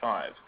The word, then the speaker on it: PHI: Uh but we pronounce it as the acronym five.